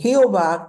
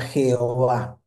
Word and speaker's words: Jehová: Adonay significa señor y Jehová, que es una palabra no muy pronunciable, se le agregan las vocales de la palabra señor, por eso termina fusionada y señor, la palabra Jehová, porque le agregan las vocales de Adonay.